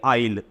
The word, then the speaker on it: isle: आई एस एल ई इसका उच्चारण क्या होगा थोड़ा सा यह गौर करना इसको बोलेंगे आइल और इनिस फरी क्या